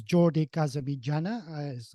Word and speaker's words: Jordi Casamitjana: and proceed please sure yeah my name is Jordi kazami Jana I know he's a a difficult name to pronounce for many people that's because I was